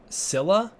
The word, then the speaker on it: Scylla: little secret cylla is pronounced like Zilla but with an s instead of a Z it's pronounced Silla interesting I don't know